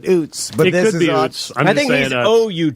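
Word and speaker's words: Ouzts: But he pronounces it oots.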